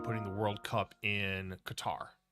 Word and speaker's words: Qatar: the World Cup in Qatar or Cutter however you want to pronounce it cutter and so he had